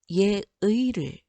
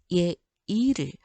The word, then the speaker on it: 예의: 자, 의라는 이중모음이 첫 번째 음절에 나오는 게 아니고 두 번째 음절에 나오죠. 그럴 경우에는 어떻게 발음하는 것도 허용된다. 이로 발음하는 것도 허용된다. 그러면 4번은 두 가지로 읽을 수 있어요. 예의를, 그 다음에 예이를. 자, 이거 둘 다 맞아요.